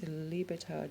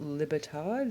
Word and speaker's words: libertad: my espanola pronunciation uh but it is libertad not libertad the i in espanol is pronounced e lovely lovely lovely just